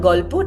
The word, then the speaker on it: Golpo: Golpo Tales? Golpo meaning story in Bengali. All right. I grew up in Kolkata, so that's why the name. So it's called Golpo Tales.